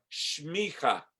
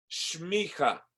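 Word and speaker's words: semicha: Esta palabra hebrea es la palabra shmicha. Shmicha. Se escribe S-E-M-I-C-H-A. S-E-M-I-C-H-A. Pero pronuncia shmicha.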